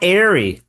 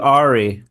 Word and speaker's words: Arey: Matt Ary, heaven forbid I call you Ari. Uh yeah, everybody does. So, it's probably annoying. You're like, "No, my name's Ary. Say it right."